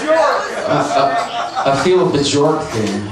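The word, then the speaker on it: Björk: It's pronounced Bjork.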